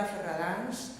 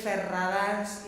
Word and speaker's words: Ferradáns: I guess Ferradáns is a little bit hard to pronounce with all the rolling R's and the soft D's and the vowels A, D.